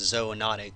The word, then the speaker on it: zoonotic: One major area of study regarding community ecology is what's called zoonotic diseases, also sometimes pronounced zoonotic, so zoonotic or zoonotic diseases.